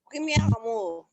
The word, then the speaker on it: premier amour: I need to hear a r sound. Let's hear r sound here. The R sound. Please take it again. Premier amour.